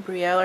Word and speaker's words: Brielle: It's B-R-I-E-L-L-E. So like Brielle went to school to chase her dreams and found tragedy instead.